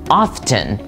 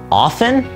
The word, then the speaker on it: often: about the word ofen many of us will say often we are emphasizing that letter T but did you know that the correct pronunciation is often that's right the T in this word is completely silent honestly this is something